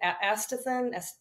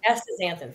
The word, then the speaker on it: astaxanthin: And then, I take sometimes, I don't even know how to pronounce it. Astaxanthin. Yeah. Astaxanthin. Thank you. I always pronounce it wrong. Astaxanthin.